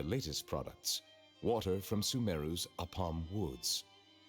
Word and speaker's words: Apam: Here is one of their latest products, water from Sumeru's Apam Woods. Oh, I always pronounce it as Apan.